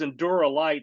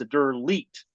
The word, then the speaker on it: Endure Elite: But so I thought it was Endura Light. Then I read it today, and I said, "Oh, it's Endure Light." But I'm wrong. It's Endure Elite.